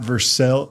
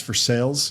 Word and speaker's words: Versailles: Just like here in Kentucky, it's not Versel. Versailles. It's for sales, you know.